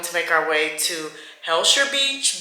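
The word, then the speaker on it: Hellshire: And then we're going to make our way to Helsure Beach. But if you're Jamaican, you say Elsure because they don't pronounce H's.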